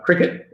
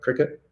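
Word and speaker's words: Cricut: CRCT, Cricket, I guess it's pronounced CRICT, Cricket. Yeah. think it's a funny way to say cricket.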